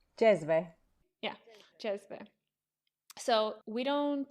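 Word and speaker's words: džezve: Jezve.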